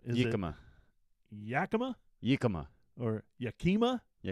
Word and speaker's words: Yakima: And that goes right along with the other rack company that has the mispronounced name. Is Yakima.